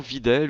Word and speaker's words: Videl: Quatrième personne de cette poule I, nous avions Videl ou Bidel selon la prononciation et des pays.